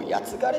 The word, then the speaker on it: 僕: うのが、まず僕をやつがれって読むんですよ。